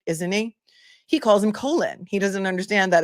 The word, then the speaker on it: Colin: older man and um he says colon like as in Colon Powell, I guess, but Colon Powell Colon Powell does spell his name the same way. So I can see the confusion. However, everyone else calls him Colin. And everyone else who's familiar with this case knows that his name is Colin, but Cosg Gro, go